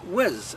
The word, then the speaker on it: was: The word was is normally pronounced whiz in speech, and so it should be in song.